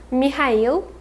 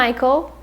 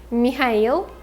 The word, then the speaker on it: Mikhail: name is berlioz berlioz his first name is mikhail not michael mikhail mikhail and his father's